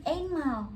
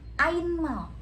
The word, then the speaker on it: einmal: Kalau EI contohnya ini dibacanya bukan Einmal, tapi dibacanya Ainmal. Jadi EI itu dibacanya AI.